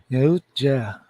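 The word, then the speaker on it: Yautja: Alien species is the the Yotja. Utah. How do you pronounce it? Uh, Yotja.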